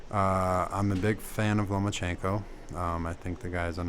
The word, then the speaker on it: Lomachenko: You have to make sure you get that accent down right. Yeah, you can't just say it like no Lomachenko. You got to say Vasily Lomachenko.